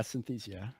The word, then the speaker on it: Synthesia: Am I pronouncing that right? Yeah, Synthesia.